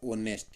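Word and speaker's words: honest: तो इसका उच्चारण होगा वो होगा ऑनेस्ट। क्या होगा? ऑनेस्ट। एच इसके अंदर छुपा रहेगा तो ऑनेस्ट वुमेन।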